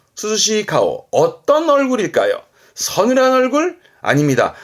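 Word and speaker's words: 涼しい: 발음은 스즈시. 그렇죠. 서늘한, 스즈시입니다.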